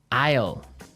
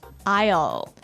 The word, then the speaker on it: aisle: i s l e Isle Isle it's a tricky word it sounds like the contraction of I will yeah but it's spelled so strangely right we don't pronounce the S the S is silent that's true Isle so